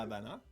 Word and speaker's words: Habana: la Habana. Ouais, tu vois, le V se prononce B.